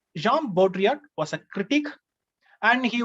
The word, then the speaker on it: Baudrillard: a french name that two l both are silent here baudrillard so jean baudrillard jean baudrillard was a critic and